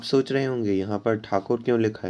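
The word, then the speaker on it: Thakur: यदि आप देखें तो TH था होता है, लेकिन उनसे ये वर्ड बोलते नहीं आता था। हमारे लिए ठा होता है, लेकिन ठा उनके लिए प्रोनाउंस करना काफ़ी मुश्किल था। तो इसे उन्हें वे लोग, रविंद्रनाथ टैगोर काफ़ी फेमस थे तो वो ठाकुर काफ़ी फेमस थे तो वो टैगोर बोलने लगे।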